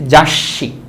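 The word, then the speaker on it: 雑誌: তারপর হচ্ছে লিখেছি জাসি। এটা হচ্ছে ছোটোসু। যদি ছোটোসু থাকে তাহলে পরের যে বর্ণটার থাকে সে বর্ণটা ডাবল উচ্চারিত হয়, এই জন্য এটার নাম হচ্ছে জাসি।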